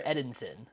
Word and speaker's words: Edinson: Is it Edison or Edinson? How do you pronounce his name? I don't know. It's a good question. Well, you got it right. Like, there we go. There is like that little N in there.